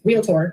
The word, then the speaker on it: realtor: at me because I add another A in the middle of it, and I don't know why I do that. Everyone here, that's what it's like. I learned today it's one of the most mispronounced words, realtor.